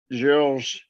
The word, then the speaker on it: Georges: of course, Richard Georges, Dr. Georges also has a French pronunciation because Georges is usually how that would be Richard Georges.